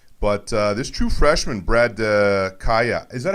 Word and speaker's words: Kaaya: laughed at me but uh this true freshman Brad Kaaya is that how you pronounce it yes it is Brad Kaya he's killing it I mean this guy's unbelievable